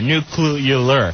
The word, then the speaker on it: nuclear: Right, because you're adding an extra syllable in there. Nuclear.